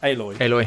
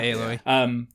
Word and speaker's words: Aloy: and the detail on what how do you pronounce the main character's name? Aloy. Yeah, Aloy.